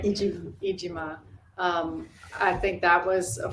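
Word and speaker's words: Iijima: that the songs that you sang with Chris Ujima, am I saying it right? Ijima.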